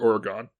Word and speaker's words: Oregon: I called it Oregon. That's the proper way to pronounce it, but I think nobody does it, so you sound like a lunatic when you do.